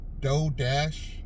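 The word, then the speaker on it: Dough Dash: duplicate what this lady Doe Dash, it's spelled Doe Dash. I think she spells it D-O-U-G-H and then the word dash.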